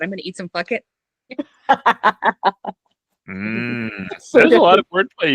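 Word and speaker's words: fakit: Fuck it. Fuck it. Yes, it is not. It is spelled similarly enough that when you see it, you're like, I hope it's pronounced fuck it, and it is.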